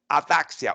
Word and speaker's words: ataxia: Ataxia or ataxia or ataxia. Ataxia is the way that is correctly pronounced.